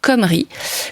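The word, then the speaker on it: Cymru: Mais l'abondance qui règne sur Hibernia commence à susciter la convoitise de Comrie. Alors, je précise, c'est écrit C-Y-M-R-U, mais ça se prononce Comrie, comme nous l'indique la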